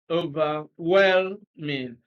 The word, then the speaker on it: overwhelming: of the well-man so over well mean so stress is on well okay so a overwhelming